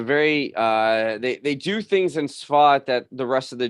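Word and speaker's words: Tzfat: Safed, close. This is the city of Svat, and the Jews, Svat, yeah, the Jews spell it Tzfad.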